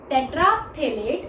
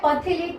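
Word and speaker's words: terephthalate: Polyester जो होता है पॉलीथीन और टेट्राथेलेट, ये जो है पथेलेट नहीं बोलना है, ये पी साइलेंट होता है।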